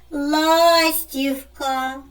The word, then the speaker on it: ластівка: зображене на моєму білеті ластівка Мені здається що наголос падає на перший склад вірно правильно Зайчисько може